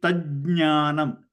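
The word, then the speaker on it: तज्ज्ञानम्: It is tajnanam. Okay. So two jakaras, tajnanam. Ajnanam. Okay, ta, ja, nya together. Tajnanam.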